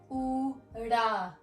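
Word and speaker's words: ੳ: It's pronounced ooda.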